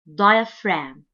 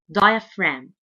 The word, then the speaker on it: diaphragm: body this muscle is called diaphragm diaphragm diaphragm and the G letter here is silent diaphragm the diaphragm is so